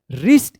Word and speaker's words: wrist: WRIST, क्या पढ़ेंगे? रिस्ट, इसमें भी R से पहले W है।